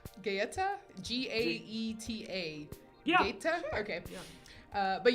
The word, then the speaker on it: Gaeta: The word pizza was first documented in AD 997 in a place I don't know how to pronounce. Gaeta? Gaeta? G-A-E-T-A.